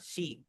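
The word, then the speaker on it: 七: इसको हम शीची नहीं पढ़ेंगे, काफी लोग इसे शीची शीची पढ़ रहे होते हैं, इसे हम पढ़ेंगे शी।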